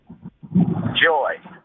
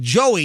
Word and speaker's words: Joie: I thought you said joy, but it's like Joey. Yeah, she pronounced it Joy. But Joey.